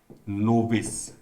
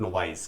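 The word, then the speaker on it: novice: नोविस, the right pronunciation of this word is नोविस, नॉट नोवाइस।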